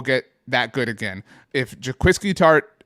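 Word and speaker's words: Jaquiski Tartt: If Jaquiski Tart, pronounce this correctly, right?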